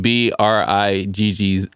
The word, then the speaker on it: Briggs: I took out, because it's spelled B-R-I-G-G-S.